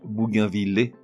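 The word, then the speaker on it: bougainvillée: Toujours est-il qu'au niveau prononciation, dans les deux cas, l'un logique, l'autre beaucoup moins, le double L se prononce comme dans ville ou mille. On dit donc bougainvillé et bougainvillier.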